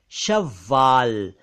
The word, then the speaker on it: शव्वाल: उसका शब्द है शव्वाल तो सवाल अलग शव्वाल अलग एक शब्द है सोख